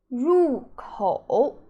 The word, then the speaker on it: 入口: The first one is, how do you pronounce these two characters? It is 入口入口 Okay, do you remember 口?